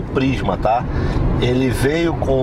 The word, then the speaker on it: Prisma: Pede pro chinês falar Prisma. Eu acho que ele vai falar Plisma.